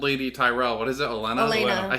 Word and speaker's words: Olenna: Because it's two different leadership styles, and the old lady Tyrell, what is it, Olenna?